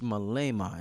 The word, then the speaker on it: Malema: revolutionary brother talking home his name is Julius Malema am i pronouncing his name right yes right right I heard Malema yeah and I heard him speaking I said